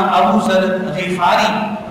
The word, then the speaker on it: ابو ذر غفاری: ذر غفاری کہلاتے ہیں، اس لیے ان کا جو حقیقی نام اور صحیح پروننسیشن کے ساتھ تلفظ کے ساتھ جو نام ہے وہ جناب سیدنا ابو ذر غفاری رضی اللہ تعالی عنہ